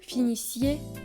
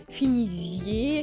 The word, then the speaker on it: finissiez: vient du radical mais on ne doit jamais prononcer finisier. Finis. Ah ouais non, c'est une faute.